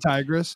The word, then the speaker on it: Tigris: uh when they announced tigris or tigris how do you pronounce that i agree i think tigress yeah okay that was the